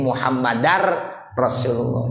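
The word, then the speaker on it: محمدا رسول الله: Wa anna muhammadan sudah tidak seperti itu lagi. Sehingga menjadi muhammadar rasulullah. Memasuki suara ra.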